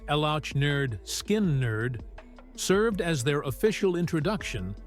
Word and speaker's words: Lynyrd Skynyrd: the subsequent release of the band's debut album pronounced elot nerd skin nerd served as their official introduction to mainstream Rock